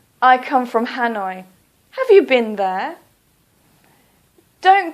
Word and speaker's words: Hanoi: so for example Hanoi please don't say hat no police say Hanoi or for example Calcutta